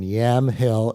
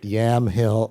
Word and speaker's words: Yamhill: Well, journalist Nicholas Kristof grew up in Yamhill, am I saying it right? You're saying it exactly right. Yamhill, Oregon, population about 1,000.